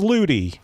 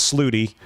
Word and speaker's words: Ludi: Charles Ludi. I think that's the first time I've actually pronounced Charles's name correct. I like Charles Sluty, but it's, I believe, Charles Ludi.